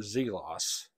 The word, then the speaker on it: Zelos: to be looking at a field watch from zelos and I did pronounce that correctly and if I haven't told